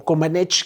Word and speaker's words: Comaneci: Y bueno, empieza este proceso en la parte política, mientras que Nadia Comaneci, o Comaneci, que es como lo pronuncian, estaba ella en una escuela, estaba con